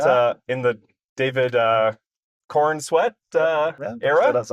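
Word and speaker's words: Corenswet: Through the through the Henry Caval years and now we're at uh in the David uh Korn Sweat uh era.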